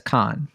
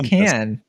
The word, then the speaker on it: Cannes: She says con, but Yes, it's like it kind of. She's also from I think she's like doing more the European pronunciation. Like if you're doing it like with an accent, it's yeah, probably more like con. con but cinema. It con. They say can.